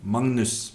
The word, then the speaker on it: Magnus: Magnus, Magnus, Magnus, Magnus, Magnus, Magnus, Magnus, Magnus, Magnus.